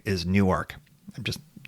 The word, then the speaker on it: Newark: is it's freaking Newark Delaware that's how you pronounce it is not Newark is Newark I'm just it's New York it just is